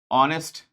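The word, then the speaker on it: honest: Our etcetera ये सारे ऐसे वर्ड्स हैं जिसमें सब में एच का क्या है? साइलेंट है। जैसे हस्बैंड में एच होता है ना तो एच यहां पे क्या है सर आपका? सबका साइलेंट है।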